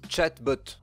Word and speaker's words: chatbot: allez forcément déçu par cette vidéo ça se prononce chat bottes robot de robots de chat en bo2 robots